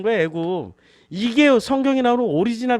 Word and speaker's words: 애굽: 그래서 이집트는 뭐라고 발음을 해요? 애굽이라고 그러죠. 이게 맞나? 애굽 쓸 때마다 이게 애굽인지 이게 애굽인지 아니죠.